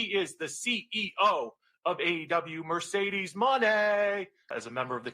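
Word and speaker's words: Mercedes Moné: She's a future uh and James, make sure you say it right. It's Mercedes money.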